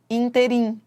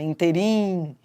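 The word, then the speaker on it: ínterim: Por exemplo, há pessoas que equivocadamente falam inteirim. Ah, no inteim não, não é no inteirim. Se fosse inteirim, ela seria oxítona. Interim.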